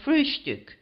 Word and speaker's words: Frühstück: word breakfast, but always call it Frühstück, with a special emphasis on the first syllable.